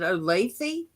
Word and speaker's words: Olathe: my sister-in-law lives and i can never pronounce it olathe it's o-l-t-h-e okay i see your